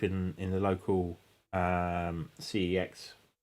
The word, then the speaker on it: CeX: This is an Elgato Wave 3 which I picked up for cheap in in the local um CEX pronounced sex.